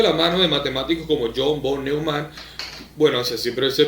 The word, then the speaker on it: John von Neumann: Bueno, Minimax surgió de la mano de matemáticos como John von Neumann, así siempre se pronuncia, uno de los padres de la teoría de juegos en 1928.